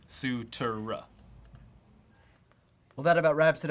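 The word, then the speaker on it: Cutura: how do you pronounce the name spelled c-u-t-u-r-a and yes you're referring to the croatian sensation an outside hitter on the 12th ranked women's volleyball team hana sutera that's sutura well that about wraps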